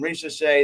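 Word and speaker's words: Risacher: Yeah, I hear Hebrew Cheetah say his name, Risha Shea.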